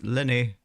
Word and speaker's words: Lyney: Yep, that's Lyney. Doesn't he live there? Lyney! See, I'm actually pronouncing his name right.